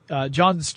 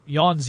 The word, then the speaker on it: Jöns: was first discovered by jöns jakob berzelius or yawns jakob berzelius if you prefer the more correct pronunciation it was a chemist